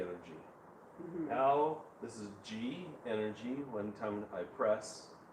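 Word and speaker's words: ji: Now, this is G energy. One time I press Like the letter G? G. Mhm. It's spelled, Okay.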